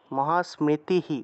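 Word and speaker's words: মহাস্মৃতিঃ: মহাবিদ্যা মহামায়া মহামেধা মহাস্মৃতি মহাস্মৃতি দন্তীয় স্বয়ের নিচে মশ মহাস্মৃতি মহাস্মৃতিহি উচ্চারণ করতে হবে মৃতিহি বিসর্গ আছে তো আর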